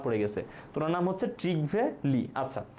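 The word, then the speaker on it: Trygve Lie: না, এটার উচ্চারণ হচ্ছে ট্রিগভে লি, ট্রিগভে লি, লি হচ্ছে তার সারনেম আর ট্রিগভে হচ্ছে তার ফার্স্ট নেম, ঠিক আছে, আমরা হচ্ছে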